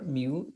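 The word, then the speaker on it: μ: तो माइक्रो के लिए हम ऐसे म्यू लिखते हैं, ये सिंबल को म्यू प्रोनाउंस करते हैं, और हम इसको लिखने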